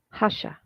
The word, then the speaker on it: Hasha: So now let's talk about the Hasha moment. This is the other side. I love this word. Hasha.